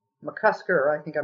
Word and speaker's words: McCusker: uh the actual chapter on joy um paul mccuster mccusker i think i mispronounced his name first time did the one